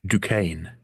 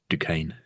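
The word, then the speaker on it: Duquesne: Yes, that I'm just sorry reminding what I've just dukane. Dukane. That's how you pronounce that. Maybe that's what they say in in the TV show. It's d u q u e s n e. Yeah. Dukane.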